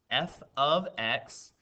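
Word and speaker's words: f(x): this is actually pronounced this looks like it could be like an f times x but it's actually pronounced f of x equals 5x plus 11 and the command says find f of 2.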